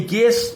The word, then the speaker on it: guess: গেস, guard, গেস্ট, guitar, এই গেস, guard, গেস্ট, guitar এর প্রত্যেকটা ক্ষেত্রেই দেখা যাচ্ছে যে ইউ এর উচ্চারণ কোনো থাকছে না। যেমন GUESS, গেস, এখানে ইউর কোনো উচ্চারণ নেই।